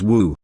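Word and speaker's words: 舞: know dances tl note martial arts is pronounced in chinese as wushu and dance is also pronounced as wu hahaha sitting behind him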